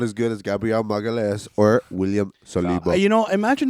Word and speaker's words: Magalhães: He is good, not as good as Gabriel Magalhaes or William Saliba. Imagine not even being able to pronounce your own players' names, man. How do you say it? Magalhães.